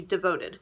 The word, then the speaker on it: DVTD: rebranding comes in is going to be devoted is how it's pronounced but it's Divi TD basically what premier is